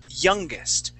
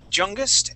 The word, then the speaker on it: youngest: the next word is youngest okay on both these words you pronounce sort of the uh a Spanish why saying jungst and you okay the trick